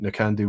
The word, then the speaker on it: Knockando: Some people pronounce Knockandoo. It's all about accent, but I think Knockandoo would be right because it's exaggerating the second syllable.